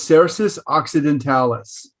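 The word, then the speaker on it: Cercis occidentalis: the latin name again well that name is cerses occidentalis cerses occidentalis thank you sure do the seeds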